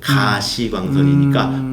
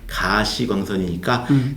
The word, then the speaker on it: 가시광선: 근데 나중에 이제 보면은 이게 visible light, 가시광선이니까 볼 수 있는 광선, 그러니까 가시광선이니까 가를 길게 발음했어야 되는구나.